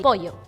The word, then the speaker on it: pollo: the LL, how do you say that? For us, the double L we pronounce as sh.